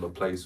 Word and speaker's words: Laplace: It's pronounced Laplace, but you can either pronounce it Laplace or Laplace.